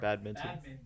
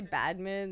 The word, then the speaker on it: badminton: Badminton. badminton. Yeah, I say badminton. Badminton. I just kind of Minton. mush it all For together, some reason, actually. most people say badmin.